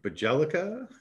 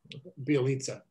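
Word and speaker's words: Bjelica: the foreign bloc countries give me bajalika bialitza there we go the lisa is questionable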